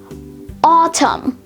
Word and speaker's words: autumn: earlier except this time the n is the one which is silent and the m is the one which is pronounced so let's take a